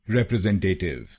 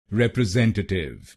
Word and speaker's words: representative: इसकी सही प्रोनाउंसिएशन है रिप्रेजेंटेटिव। रिप्रेजेंटेटिव। इस शब्द में 5 शब्दांश हैं। पहला शब्दांश है REP, दूसरा शब्दांश है RE, तीसरा शब्दांश है SEN, चौथा शब्दांश है TA और आखिरी शब्दांश है TIVE।